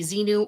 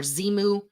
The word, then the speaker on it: Xenu: The pronunciation can be Xenu or Zimu.